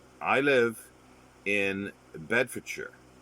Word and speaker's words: Bedfordshire: live in bedfordshire and it's like no it's bedfordshire they go oh it says your bed for charge yeah but it's pronounced bedfordshire or beds you know the english